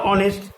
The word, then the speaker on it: honest: আবার অনেস্ট, এক্ষেত্রেও HONEST, এইচ এর কোনো উচ্চারণ থাকছে না, অর্থাৎ নিজের উচ্চারণটাকে হারিয়ে ফেলছে।